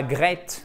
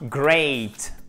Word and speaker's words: great: Et pas great, hein, great. Toujours avec la diphtongue, super important.